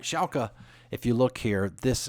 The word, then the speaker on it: Schalke: number one all right I always have problems pronouncing the soccer team Schalke Schalke all right Schalke if you look here this if you look